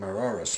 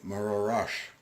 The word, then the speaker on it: Mororash: The historian then went with us through the village to show us where a family named Mororas lives. Interestingly enough, they pronounce their name Mororash.